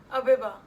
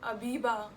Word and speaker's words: Abiba: It's Abiba. It's not Abiba, जो काफी लोग उसको बुलाते हैं.